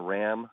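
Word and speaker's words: Jon Rahm: I think that John RAM and it's apparently Ram not Rah we've been saying his name wrong all this time this young Spaniard who's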